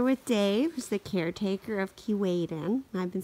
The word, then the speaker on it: Keewaydin: well I'm here with Dave's the caretaker of Keewatin I've been saying it wrong all this time